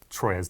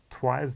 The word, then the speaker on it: Troyes: This is a game I call Troyer's Dice. I believe it's actually pronounced Twire's Dice.